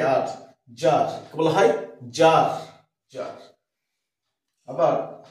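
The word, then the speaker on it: czar: আবার ক্লিক, সিএলআইসি কে, সি এর উচ্চারণটা নেই। জেড এর ব্যাপারে দেখি, সি জেড এ আর, জার, বলা হয় জার, জার।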